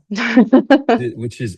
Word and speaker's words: Trinacria: you pronounce Trinakiria, which is Trinacria.